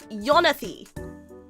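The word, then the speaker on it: Jonathy: this guy's name is Yonathy. This guy's name is Yonathy with a J with a J. But you pronounce it with a Y.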